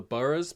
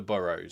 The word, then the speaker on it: Boroughs: show that I always want to call the Burus because it's spelled like in England we would say Burough, but everyone in the show refers to it as the Burrows.